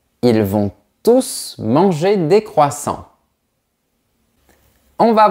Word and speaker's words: tous: On se réfère au nom qui est avant. Donc, on prononce le S.